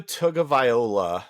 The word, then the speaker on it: Tagovailoa: Tugalivova? Tua Tagovailoa.